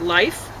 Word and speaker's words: LiPH: Colloidal silver chloride dioxide, LiPH, pronounced life, is commonly used with MSM.